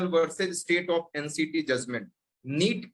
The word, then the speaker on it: Knit: NEET KNIT, इसमें के silent है, ध्यान रखिएगा।